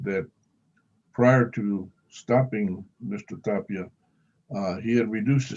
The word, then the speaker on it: Tapia: and and by the way that's where you pronounce it mr edmund tapia now the second part of his testimony that